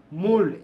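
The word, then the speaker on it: mould: Dash they can মুড there মোল্ড, এটার উচ্চারণ মোল্ড, এম ও ইউএলডি, মোল্ড মোল্ড মোল্ড, এম ও ইউএলডি, মোল্ড দেয়ার characters.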